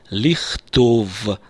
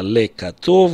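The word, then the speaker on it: לכתוב: числе в классическом иврите, вместо «ле» произносится «ли» предлог, правда? Я произношу «ухафец лихтов асфарим». Срабатывают правила, которые до сих пор в классическом иврите или в иврите высокого стиля актуальны. И вместо «ле катов» у нас получилось «лихтов асфарим».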